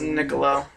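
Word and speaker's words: Niccolò: It's Niccolo. Niccolo? Niccolo.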